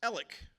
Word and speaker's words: Alex: it didn't work out Scotch Irish Alex is pronounced elic like e l l i c k nobody ever gets that